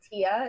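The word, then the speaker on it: Tiija: It's Tia, it's spelled T-I-I-J-A.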